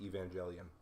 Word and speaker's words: Evangelion: Now, I might get shot for this because I could be wrong, but I believe it's pronounced Evangelion.